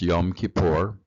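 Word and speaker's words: Yom Kippur: uh to find out more about it uh pronounce yum kipor uh and it generally happens in October October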